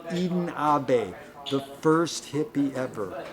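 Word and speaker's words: Ahbez: eden abe it ends with a z eden abbas but it's pronounced eden abe the first hippie ever right when the beats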